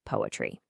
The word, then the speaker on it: PoAItry: of their visuals, but it's pronounced just like poetry, because their whole philosophy is that the only piece of tech that truly matters here is the human heart.